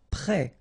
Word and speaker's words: prêt: Prêt. Final T not pronounced. E accent circonflexe like that phonetically gives you the E sound.